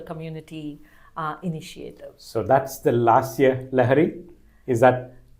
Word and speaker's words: Lasya Lahari: So that's the Lasya Lahari? Is that correct? Or did I pronounce it correct?